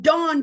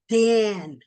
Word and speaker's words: Dan: From dawn to Beersheba. From dawn to Beersheba. From dawn to Beersheba. Don't think it's an accident that somehow in our language it got pronounced Dan.